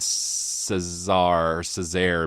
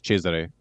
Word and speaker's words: Cesari: I've always said Cesar Cesar, but is it Cesari? I don't know if either of you guys know how to pronounce this, dudes. Yeah, I think it's Cheser. Uh, it's the Italian pronunciation. That's how I remember it from listening to to Brian Keane's podcast, Adam Cheser.